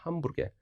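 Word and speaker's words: hamburger: 이게 햄버거가 아니라 함부르게르입니다. 함부르게.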